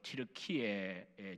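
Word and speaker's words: Türkiye: 앞에 이제 우리 역시 또 김주섭 목사님도 제자하고 학교 다니던 시절이 생각나는데, 아무튼 우리 김 목사님이 기도하자고 언급했던 터키, 요즘은 티르키예라 그럽니다. 그 동네 발음대로 티르키예 지진 난 지역요.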